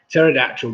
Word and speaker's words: pterodactyl: why can't you hear a pterodactyl go to the bathroom because the p is silent oh dear right there